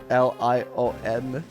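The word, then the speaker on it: Lyon: I love how she says she writes it like l i o n.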